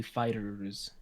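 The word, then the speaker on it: FighterZ: which mike is it dragon ball fighter z or fighters i never know how to pronounce that game i believe it's technically fighters okay um you know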